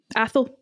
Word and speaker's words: Atholl: brackets some relation yeah the fourth Earl of Athol that's a word how do you say that athl yeah a okay because this is this is